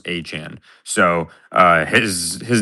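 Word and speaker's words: Etienne: out and said, "My last name is not pronounced ETN. It's pronounced Achan."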